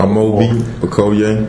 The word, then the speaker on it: Amobi Okoye: Because I don't want to pronounce it incorrect. So Amobi Okoye.